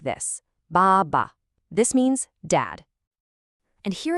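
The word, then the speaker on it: 爸爸: This word is bàba. Notice the tones here. The first syllable has that falling tone, ba, but the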